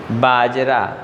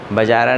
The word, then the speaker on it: बाजरा: बाजरा BAZRA, बाजरा, बजारा नहीं, BAJRA, बाजरा।